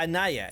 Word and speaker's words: Anaya: I can't pronounce your name very well, Anya. I'm just gonna call you Anya. That's not actually how you pronounce her name, by the way.